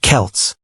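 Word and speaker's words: Celts: The people who lived there were called the Selts, pronounced Kelts.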